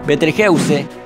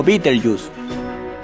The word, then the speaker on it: Betelgeuse: para nuestro mundo betelgeuse o pronunciada también como beetlejuice es la cuarta estrella